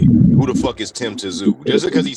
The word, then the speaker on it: Tszyu: Who the fuck is Tim Tszyu? Just because he said that, I want AJ to beat the shit out of him. Just because he pronounced the T in Tim Tszyu's last name.